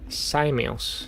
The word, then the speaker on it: Samos: It's pronounced Samios. Samios? Samos the Sage.